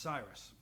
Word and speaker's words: CIRIS: you can read it, is CIRIS, pronounced Cyrus.